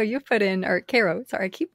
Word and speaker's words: Karo: contributed to us including including youtube i think carl you put in or cairo sorry i keep mispronouncing your name um so cairo you